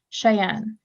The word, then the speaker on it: Cheyenne: you for that I'm just gonna double check the pronunciation of your name to get it right so Cheyenne yeah that's correct okay thank you for